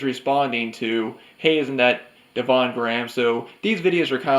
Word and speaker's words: Devon Graham: That Devon Gramps video, I actually mispronounced his name in part 1. I pronounced it Devin Graham, and then when I watched his video of his Evil Dead collection, he had a clip from Halloween of Linda saying, "Hey, isn't that Devon Graham?"